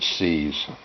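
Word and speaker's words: SEAS: Some people pronounce it C's. I call it Seos.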